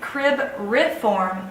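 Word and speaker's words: cribriform: number 13 is the crib reform plate and that's how you'll say it crib rip form plate so that you can spell it correctly is the plate that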